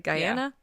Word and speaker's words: Guyana: So, if we're going off of Jonestown, the three of them are traveling to, I believe it's Guyana. Mm-hmm. That's how you say it, right? Guyana?